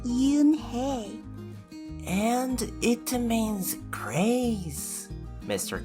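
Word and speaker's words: Unhei: Yes, it's pronounced Eunhae. And it means grace, Mr. Kim added. Eunhae, Joey said slowly, and this time perfectly.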